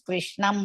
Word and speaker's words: Krishnam: That is Hrisva, but in the end of the pada, we have to pronounce Krishnam only.